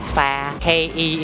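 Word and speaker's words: phắc kẻ: F-A, we spell it pha. K-E is ke.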